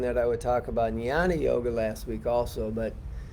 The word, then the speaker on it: Jnana: So, Jnana Yoga, it's actually spelled Jnana, and it's pronounced Jnana, meaning sounding like this, Jnana, Jnana Yoga.